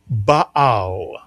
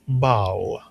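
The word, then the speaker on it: בעל: You put the word together, it is baal or very often simply read as bao.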